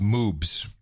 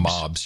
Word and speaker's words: moobs: ok by the way it's pronounced moobs none mobs you said mobs or something I know